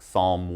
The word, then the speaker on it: psalm: Remember, we have a silent P, so just pronounce the S.